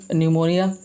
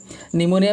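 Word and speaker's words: pneumonia: WHO first reported a cluster of cases of न्यूमोनिया, न्यूमोनिया में P silent रहता है, ध्यान रखेंगे, of unknown cause in Wuhan China, है ना।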